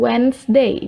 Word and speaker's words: Wednesday: Nah, ketika kalian menyebutkan hari Rabu, Wednesday. Jadi D-nya itu tidak terbaca yang pertama, Wednesday.